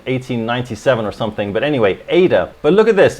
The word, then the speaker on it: Ada: not as powerful as ada as ada sorry i've realized recently that i'm mispronouncing ad it's actually ada it's named after ada lovelace who was a mathematician